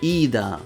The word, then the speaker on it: Ida: Her name is Ida, though particularly with an elongated i sound (イーダ), pronounced like "iida".